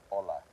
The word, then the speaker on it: hola: The h is a silent sound. So there's no no sound on the h at all.